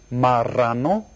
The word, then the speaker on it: marrano: And if you look right down here, see it's got the double R thing? That's where you go R. Marrano.